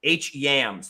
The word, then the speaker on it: Hyams: me you can see my name it's it's hems that's how I spell it not how I pronounce it it's HMS